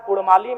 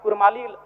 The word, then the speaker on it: कुड़माली: है ठीक उसी प्रकार कुड़माली में अभी कुरमाली र उच्चारण होता है वर्तनी में जबकि वह मूल रूप से परंपराओं की मान्यताओं की बात करें तो अड़ होना चाहिए और अंग्रेजी दस्तावेज में